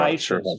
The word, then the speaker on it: Vaishya: Vaishyas, Vaishyas.